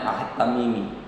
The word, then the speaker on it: Ahed Tamimi: AHD tulisannya. Kita bacanya Ahed Tamimi. Tamiminya biasa.